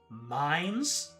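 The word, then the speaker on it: Mainz: It's pronounced minds, by the way.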